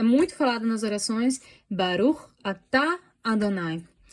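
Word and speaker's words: ברוך: A gente vai pronunciar, então, essa palavra Baruch. Baruch.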